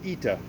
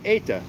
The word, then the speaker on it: eta: So this Greek letter in modern Greek is pronounced ita, like ita sandwich. And in Koine Greek it's pronounced eta, like ate a sandwich.